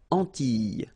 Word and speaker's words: Antilles: So final S and E, really you don't pronounce them. So you get this E sound. Antilles.